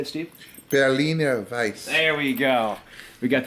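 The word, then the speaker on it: Berliner Weisse: Berliner Weiss.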